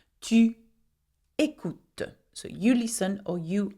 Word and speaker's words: écoutes: But you do not pronounce the S. Tu écoutes.